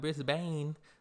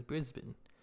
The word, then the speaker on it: Brisbane: I had to let people know how to pronounce the cities you know and let them know it's not Brisbane like I was saying in the beginning is Brisbane it's not Melbourne Melbourne so but y'all go